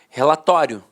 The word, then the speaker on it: relatório: paroxítona terminada em ditongo falava assim ó relatório relatório a penúltima sílaba a sílaba mais forte e a última de fato perdi a força Então os dicionários registravam